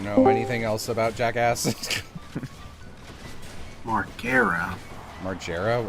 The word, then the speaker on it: Margera: Margera. Margera. How do you Do you know his name? It's Marger.